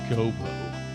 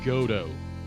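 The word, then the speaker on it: Godot: It's not Gobo. It's Godo, Your Honor.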